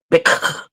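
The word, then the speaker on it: Bích: There's a lot of Vietnamese girls named bitch too. But it's pronounced Bic. Bic. No T.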